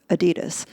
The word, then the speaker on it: Adidas: added s is pronounced adidas in America so we're talking about your Taiwanese